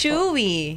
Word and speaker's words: Choo·ee: When you say chewi, the pronunciation, yung pinakabigkas niya is yan pong nakikita niyo. Okay. Chew. Mm. Yes po. Chewy. Yes. Because you chew when you eat po.